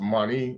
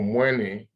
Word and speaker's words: Mani: Okay, and as we talked about this, it says the Mani Kongo, because this is pronounced Mani in Kikongo, Mani or Mwene, okay, Kongo, was the